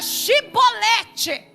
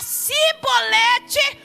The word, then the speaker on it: chibolete: Se ele não pronunciar chibolete, se ele falar cbolete, corta o pescoço dele, porque ele é mentiroso.